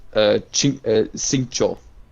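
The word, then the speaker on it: 行秋: end of his name, and he's pronounced Xingqiu. So that's like kind of weird.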